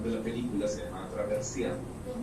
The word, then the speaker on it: attraversiamo: Y cuando ella estaba en Italia, ella descubre una palabra que es muy rica en pronunciación italiana, que se llama attraversiamo. Y attraversiamo es una palabra en italiano que tiene todas las vocales menos la U.